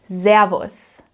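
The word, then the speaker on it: Servus: For example, in southern Germany and also in Austria, people say zavos. Zavos with a soft s sound which means it's a buzzing sound more like the English zed actually zavos zavos in Switzerland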